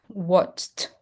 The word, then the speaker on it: watched: So, I have to pronounce t. watched watched.